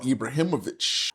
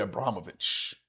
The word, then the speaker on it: Ibrahimović: I said it wrong, Ibrahimović. I said Abramovich. I said it wrong.